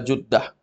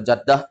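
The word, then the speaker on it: جدة: Ila Juddah. Ya. Kalau antum baca Jaddah, Jaddah itu artinya nenek. Ya. Juddah. Berarti kan Maryamu wa banatuha zahabat ila Juddah.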